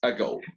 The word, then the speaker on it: ago: The stressed syllable is go.